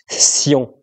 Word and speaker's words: cyan: Cyan. C-Y-A-N. Et donc, du coup, quand tu prononces à l'anglaise un petit peu, ça fait Saiyan.